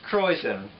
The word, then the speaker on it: krausen: c c croen pronounced croen it's a brewing term referring to the layer